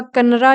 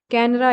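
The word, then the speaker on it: Kanara: इसका कन्नरा या कैनरा एक और नाम आता है। दोनों ही प्रोनाउंसिएशन सही है, इसकी बेटर है।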